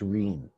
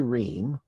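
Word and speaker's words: rheme: What's ream? It's spelled like theme, but with an R.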